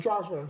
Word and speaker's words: Strasburg: How do you pronounce that? Strasburg.